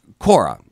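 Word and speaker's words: Quora: more right now there's a website it's called Korra q uo are a court but is pronounced Korra and people asked it's like a question-and-answer type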